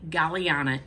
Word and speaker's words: Galliana: So to be eligible for this giveaway, you are going to say Galliana in your comment. Galliana is spelled G-A-L-L-I-A-N-A.